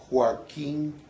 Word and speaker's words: Joaquín: sonoridad que tiene No fíjate que tiene el acento en la i Joaquín zona musical no y